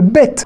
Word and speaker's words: ב: aux deux particularités et le bet la particularité c'est que selon sa place dans un mot va se prononcer 2 comme un bep ou veut comme un v d'accord c'est une lettre